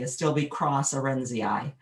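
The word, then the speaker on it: Astilbe × arendsii: Okay, so anytime you see an X, you say it cross. If you want to say the name, you say Astilbe cross Arenzii.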